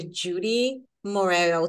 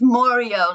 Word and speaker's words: Moreo: to introduce you to Judy Moro today I said it right like Judy Moro S no it's morio like oreo with an M morio of course morio